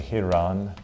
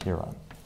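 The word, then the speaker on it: ἱερόν: All right, the first one is, it's actually Hieron, which is English, is pronounced like that, Hieron.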